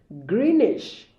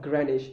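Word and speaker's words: Greenwich: This word can be pronounced greenish or granish. I can recall 5 years ago, somebody was arguing with me in this way. I call it granish. I actually say granish mean time, and it doesn't say, is it greenish or granish? I said, come on, it can actually be pronounced two ways.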